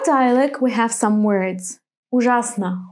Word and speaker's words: Ужасно: Well, you probably have already guessed, in some three-syllable words the accent falls on the second syllable. Why not? Let's see. Ужасно.